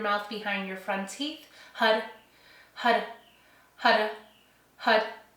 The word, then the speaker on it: Har: to the mantra tantric hud. And this is Hud is spelled H A R. Um it's a Sanskrit mantra and it's pronounced Hud. So, it's it's spelled like har, but it's it's pronounced hud.